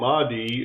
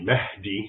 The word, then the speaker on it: Mahdi: Islamic expert Raymond ibraim so the Mii as as an English speaker would pronounce it it's really Mahi which basically means guided